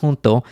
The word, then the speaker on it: junto: which is taken from the Spanish word junto which is pronounced with the H just means together and